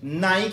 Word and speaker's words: Nike: donc le à la fin du mot est prononcé i dans knight qui lui nice ça vient d'un mot d'origine grecque à la